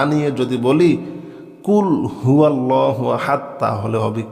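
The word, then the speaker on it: قل هو الله أحد: কুলহু আল্লাহু আহাদ বল তিনি আল্লাহ এক অদ্বিতীয় মাশাল্লাহ বল তিনি আল্লাহ এক অদ্বিতীয় কুলহু আল্লাহু আহাদ সঠিক উচ্চারণের সঠিক অর্থ হবে বল তিনি আল্লাহ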